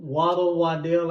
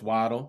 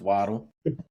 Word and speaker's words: Waddle: Wadd Wadell. I can't always get his name wrong. Sorry. No, you probably do it on purpose because he's Bama. You know it's Waddle. You know it's Waddle.